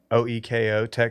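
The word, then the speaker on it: OEKO-TEX: It's Oiko Tech Standard 100 certified. OEKO Tech certified. That's how you say it.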